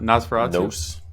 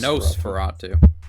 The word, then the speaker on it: Nosferatu: way I do so is it not nas Fatu no no it's no Fatu no I for some